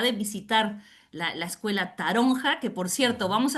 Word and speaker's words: taronja: Y eh la palabra taronja, que en verdad en valenciano se pronunciaría taroncha, ah, vale.